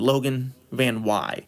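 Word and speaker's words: Logan VanWey: making the team, and that is how you pronounce his name to my knowledge. I looked it up, I did all the research. It looks like Logan Van Wy.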